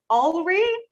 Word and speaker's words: Olree: feel free okay yeah my name is alverie i mean you can find my youtube channel